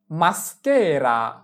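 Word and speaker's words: maschera: এস এর উচ্চারণ এস চি আক্কা এ কে এসকে। মাস্কেরা মাস্কেরা মাস্কেরা মানে হচ্ছে মুখোশ।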